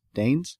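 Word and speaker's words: Dehn: Dane's? Is it Dane or Den or... it's D-E-H-N. It's Dane. It's Dane.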